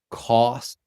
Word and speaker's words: costumes: Customs. Costumes. Do you hear the difference?